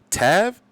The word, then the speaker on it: Tav: This is SFE Tav or Tave. Dave. Tave. All right, so it's SFE Tave is how you say his name.